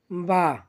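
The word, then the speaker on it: ب: বা, বা হরফটি আমরা দুই ঠোঁট হইতে উচ্চারণ করব, বা।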